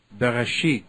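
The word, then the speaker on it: בראשית: This is Bereshit. So I left click. It tells me here how to pronounce it. Bereshit.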